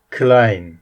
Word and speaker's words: kleine: grossu öğrendik büyük şimdi kleine kleine küçük e ve i harfleri yan yana gelince ay diye okunuyordu Kine Kine küçük di